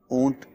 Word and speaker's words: اونٹ: اچھا، ایک تو اس کا تلفظ بھی درست کر لیا جائے۔ کئی لوگ جو ہیں وہ اونٹ ٹھے کے ساتھ پروناؤنس کرتے ہیں، تو یہ ٹھے نہیں بلکہ ٹے ہے، تو اس کو ہم اونٹ کہیں گے۔ اس کو